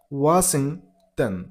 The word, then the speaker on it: Washington: Stress on the first syllable, Washington.